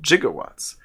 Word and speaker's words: gigawatts: the greek root jigas that greek root is pronounced with a j sound not a g sound for gigantic oh so